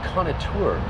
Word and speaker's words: Conniostour: remind you that it's Cana tour so don't pronounce the S it's a French word O Connor tour unbelievable